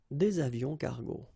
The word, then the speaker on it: des avions cargo: Un avion cargo, des avions cargo. Same thing, S, but then we don't pronounce them.